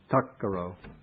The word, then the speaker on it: takkaro: And in the compound, the T of the second T in tat gets transformed by sandhi, by the meeting of these two consonants. It gets changed to a K to make it easy to pronounce. So it becomes takkaro, which means a doer of that.